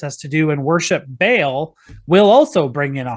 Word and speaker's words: Baal: the worship of either Baal or Baal, however you want to pronounce that. It's more faithful to the Hebrew to pronounce it Baal, but the reason why